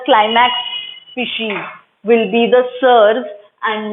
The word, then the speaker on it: seres: SERES, we will pronounce it as SERS because इसको हम सीरीज नहीं प्रोनाउंस करेंगे.